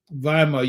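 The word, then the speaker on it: Weimar: how to spell it but viar you might find it spelled w y m a r Republic or maybe you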